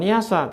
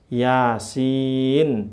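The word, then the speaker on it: يس: yang terkenal ini nih yasa bukan yasa tapi Yasin. Dari mana? Dari huruf ya. Ya. Sin. Sin gitu bacanya dari sini nih. Lihat ya. Ini ya ya di sini nih. Ya. Ini apa? Sin. Sin ada n-nya di akhir.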